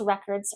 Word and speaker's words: record: If it's a verb, the second.